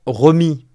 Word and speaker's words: Remi: Il y a certains d'entre vous qui m'ont fait la remarque, et je les en remercie d'ailleurs, mais en réalité ça se prononce George REMI.